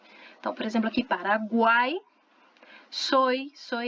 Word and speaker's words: soy: Terminou com a Y, vai ter som de I, tá? Paraguai e soy.